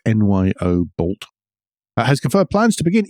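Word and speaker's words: Nyobolt: tech company that nobody's ever heard of called Noob bolt we had some debate over the pronunciation it's Nyo bolt has confirmed plans to begin EV battery production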